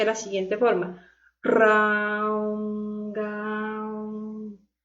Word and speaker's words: Raom Gaom: pueden utilizar el mantra Raom Gaom, que se pronuncia de la siguiente forma. Raom Gaom.